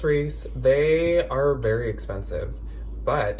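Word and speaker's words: Reiss: putting the labels right here but yeah it's pronounced Reese they are very expensive but it actually does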